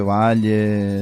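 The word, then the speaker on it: Batlle: ¿Vos sabés que Jorge Valle, por ejemplo, se escribe Batle, escribe, pero Valle se lee.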